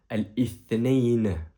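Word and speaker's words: الاثنين: Lundi, en arabe, on prononce al-ithnain.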